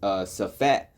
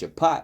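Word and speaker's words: שפט: All right, now in the Paleo Hebrew, it says safat, you know, how he pronounces it, but it's shapat, which means to judge.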